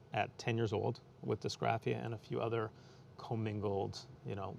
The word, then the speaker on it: dysgraphia: When you found out when you were young that you had a learning disability called, I'm going to pronounce it wrong, dysgraphia?